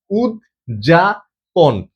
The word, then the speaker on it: উদ্যাপন: উজ্যাপন।